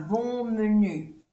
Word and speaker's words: bon menu: Aquí hacemos la unión, la liaison. C'est un bon menu.